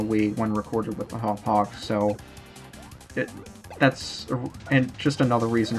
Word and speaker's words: Hauppauge: I keep calling it Hauppauge when I'm pretty damn sure it's supposed to be pronounced Hauppauge. I've been to Hauppauge, New York, and for God's sake, that's how they pronounce it. I want to pronounce it with a hard G.